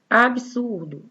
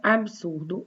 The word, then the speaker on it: absurdo: Na palavra absurdo, eu também pronuncio um som de I, absurdo, mas não tem.